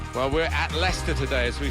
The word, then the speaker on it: Leicester: the world try to learn how to pronounce their name. Lysester and Lchester. We got a lot of that, didn't we? But very much Leicester and very much the leaders.